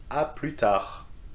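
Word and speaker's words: à plus tard: of pronunciation be careful aprita you see that we don't pronounce the s in this one and in the shortened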